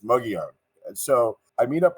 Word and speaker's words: Mogollon: on the Mogan Rim I love the fact that you pronounced that properly by the way thank you and uh right you know I mean I I've heard all different variations but it's muggy on and so I meet